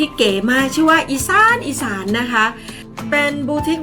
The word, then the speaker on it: อีสาน: ชื่อ ว่า อีสาน อีสาน ที่ ต้อง ออก เสียง ว่า อีสาน อีสาน รั้ว เขา ชื่อ อีสาน ส หัว ข้อ สระ อา นอ หนู ไม่ ไม่ ตรี นะ คะ อีสาน นะ คะ ก็